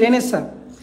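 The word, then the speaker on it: Renaissance: রেনাইসেন্স উচ্চারণটা হবে রেনাইসেন্স, কিন্তু স্পেলিংটা আমি যদি মনে রাখার জন্য বলি তাহলে হবে রেনাইসেন্স, কিন্তু উচ্চারণ হচ্ছে রেনেসা।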